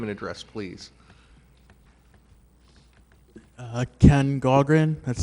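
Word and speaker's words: Gaughran: state your name and address please uh Ken gogren that's spelled g-a-u-g-h-r-a-n uh 1204 Fellowship Court um really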